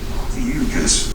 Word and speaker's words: Ophiuchus: Officious? Oh, fishy? No, I legitimately have no idea how to say this. That's because it doesn't matter. Let's see what Google says. Ophiuchus.